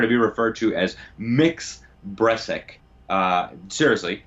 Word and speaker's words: Mx: be referred to as mix breast sick seriously MX as opposed to Ms pronounced mix Bres ik and she's